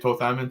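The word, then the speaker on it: Thoth-Amon: That's how you say it, Toth Amun.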